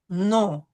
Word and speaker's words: nom: We have an OM, so the O is going to be nasal. We have the UN, so the U is going to be nasal. Ami, no S. Okay. Son, non, on, ami.